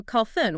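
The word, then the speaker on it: خلف: By dropping the vocalization of the middle letter, the word becomes contracted, choked off, diminished. Oh, that's fascinating. Yeah, so khalfun with a silent lam specifically refers to a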